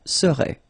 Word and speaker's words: serait: So final T is not pronounced. So phonetically, you've got the same form as we had previously. Il serait, elle serait. Okay, so one more time.